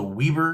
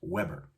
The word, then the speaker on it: Weber: thinking wait isn't it isn't is this the weaver grills no i know it looks like it's spilled like weaver but it is pronounced weber i found this out when i was getting